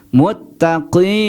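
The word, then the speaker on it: مُتَّقِين: Maka na ini dibaca n kalau disukunkan. Muttaqin.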